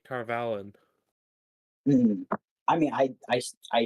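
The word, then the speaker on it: Tar Valon: Yeah, But or like for example, like in territory that's friendly to them, such as Shianar or Tarvalon.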